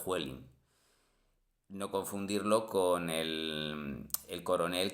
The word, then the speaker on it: Huelin: Parece que se pronuncia Huelín, pero procede del nombre de un empresario alemán, Huelin.